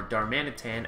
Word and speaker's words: Darmanitan: So where we left off in the last episode, we had just finished healing our Donkey Kong, our Darmanitan, as I now know it is pronounced, not Darmanitan, so I was pronouncing it correctly.